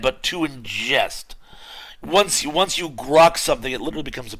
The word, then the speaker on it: grok: be pronounced more like grok. You have to say it like a frog with a sore throat.